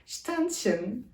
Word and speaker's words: Ständchen: sarf ettim burada yazabilirdim Yazdım ama daha net bir bilgi net bir telaffuz istedim tension Almanca bir kelimedir ve